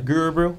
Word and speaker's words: Gurubrew: say it for now you said right okay guru bro okay i was like it's a mouthful and